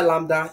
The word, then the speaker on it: lambda: Either lambda, either this symbol here. We always, I think we pronounce it as, this one is pronounced as lambda.